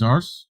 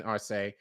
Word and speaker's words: Arce: Luis Arce? Arce.